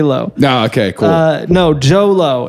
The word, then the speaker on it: Jho Low: No, Jho Low. It's spelled JHOLOW. Jho Low. Jho Low. Yeah, pretty close actually. JHO JHOLOW.